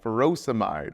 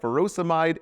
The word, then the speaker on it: furosemide: Potassium wasting ends in "ide, like furosemide or hydrochlorothiazide. Both rhyme with dried.